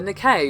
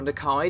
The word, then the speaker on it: Nikkei: of the Japanese financial newspaper nay or nikai depending on your pronunciation as they are very